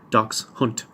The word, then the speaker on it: dachshund: Dachs hunt. I'm apparently the only person who pronounces it like that. Even the Germans don't, they call it something else. So I might be the only person in the world who pronounces that word, dachshund.